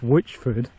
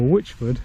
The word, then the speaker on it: Whichford: But Whichford is not famous for witches, and it's not spelt in the way that you'd spell witch.